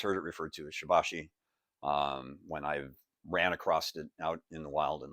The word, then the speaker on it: Shibashi: So, Shabbashi, or as I said, Sherbasher. Uh, some people say that's the pronunciation. As I always like to point out, I've always heard it referred to as Shabbashi um when I've ran across it out in